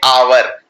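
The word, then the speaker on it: hour: लगाऊंगा एन क्यों लगाऊंगा क्योंकि अवर को बोलते हैं अवर इसमें हा साइलेंट है तो अगर साइलेंट को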